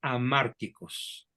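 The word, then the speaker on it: hamárticos: que se llama mandatos amárticos se escribe con h a márticos y la palabra a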